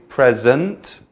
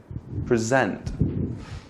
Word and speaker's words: present: give a show present so say two ways present a present present present present present evil same word but if you add stress to either side it changes the meaning of the word completely so present present so